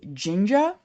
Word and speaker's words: Jinja: what it does so uh read wise uses Ginger I guess is how it's pronounced um j-i-n-j-a which is a templating engine